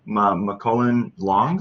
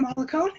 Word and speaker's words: Molikone: your of yourself sure first of all it's molikone that's okay sorry i